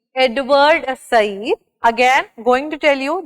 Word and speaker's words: Said: So number one theorist that we have is by the name Edward Said. Again, going to tell you the correct pronunciation is Said, not Said, right?